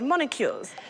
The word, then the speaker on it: molecule: and then they're called molecules it is pronounced molecule there is no n in molecules m o n o